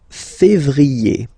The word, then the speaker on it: février: Then comes février, février. Okay, remember when you have this accent aigu on the top of then you pronounce it e.